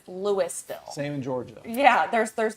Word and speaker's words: Louisville: Oh, well, there is a town in Colorado that is spelled in boy. the exact same way as Louisville, but it's Louisville.